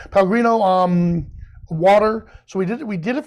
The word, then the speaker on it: Pellegrino: So this was for a photo shoot we did for Pellegrisi. Am I saying it right? It's Pellegrino. Pellegrino water.